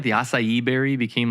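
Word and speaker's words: açaí: Do you remember when like the acai berry became like such a thing?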